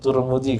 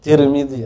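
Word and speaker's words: Tirmidhi: silakan kata takliknya begitu ada tarmidi Tahir gitu ya Ada ada turmudzi kawan kita ada Tirmidzi ada itu yang mana A silakan ada tiga wajah dia bacanya dan kata beliau hadisun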